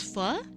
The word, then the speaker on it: pho: What is fu? It's spelled pho and it's uh like noodle soup, but there's more to it.